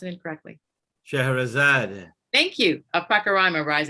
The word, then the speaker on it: Scheherazade: I don't want to pronounce it incorrectly. Scheherazade.